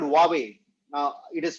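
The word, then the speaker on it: Huawei: is not Apple it is a company called huawe now it is spelled as hu W eii but it is pronounced as huawe it has got 4,500 patents double the numbers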